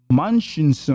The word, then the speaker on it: Munchausen: Nate, how do you pronounce that? Yeah. Munchausen.